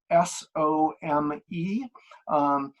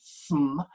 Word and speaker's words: some: the word some, and you sometimes pronounce the word sm. And when you pronounce it sm, it means something specific.